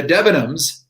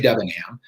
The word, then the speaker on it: Debenham: debenham oh cool the debenhams came from that village migrated over to america and so the the correct pronunciation of my name is debenham i actually better but we say dubingham and my father has